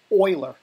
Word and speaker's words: Euler: little trick here sorry in curves this is pronounced Euler filter not the Euler filter people get mad at you for calling a fuel filter professionals book is called Euler filter you click that Euler filter and it